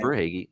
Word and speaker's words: Verhaeghe: Verhaeghe, yeah. Verhaeghe. I'm the name pronunciation guru, so I've got you.